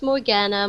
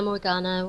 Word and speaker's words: Morganna: um her name is morkana am i pronouncing your name correctly uh yes it's morgana morgana whatever morgana okay i want to make sure